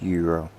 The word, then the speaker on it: gyro: Here is gyro, pronounced euro. So you pronounce gyro as euro there?